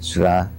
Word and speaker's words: Ra: and the Egyptian goldra some say re but ra I mean the same people who who who spell it R R E then go and write the name of the pho Ramis rames which means issue emanating from raah so when they say the name of the Pharaoh they say ra but when they say the name of the god they spell it re it's ra it's because it's also